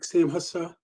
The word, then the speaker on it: SAMHSA: For those that need it, the SAMHSA, it's hard for me to pronounce the acronym. It's like SAMHSA.